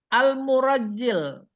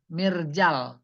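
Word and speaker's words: مرجل: Al-murajjil. Nah, ini salah bacanya tadi. Bikasrin fasukun. Mirjal. Fasukun fafathah. Oh iya, suara gidir.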